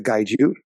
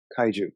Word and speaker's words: kaiju: Pretty much every episode there's action with a gaiju. Yeah. I'm saying it right? Am I saying it right? It's kaiju. Yeah.